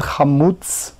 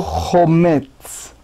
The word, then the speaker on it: חמוץ: ואידך אשרו חמוץ, so the Yad Rama said חמוץ ולא חומץ. So here, Yad Ramas speaks about different pronunciation, which is victim, relieve